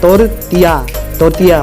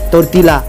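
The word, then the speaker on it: tortilla: Okay सही है तोरतिया और गलत है तोरतीला। हे भगवान, इसमें तो एल ही गायब हो गया।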